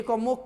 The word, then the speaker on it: comb: बी को silent करना यानी बी पर में जोर मत देना, बी को मुख कर देना। ई ने जब बी का भी उच्चारण करोगे, जैसे LAMB लैम, लैम बोलना है, लैम्ब नहीं, बॉ नहीं।